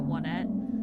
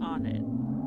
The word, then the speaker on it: Onett: I actually, for the longest time, I did not pronounce that Onette. I pronounced it on it. Or own it.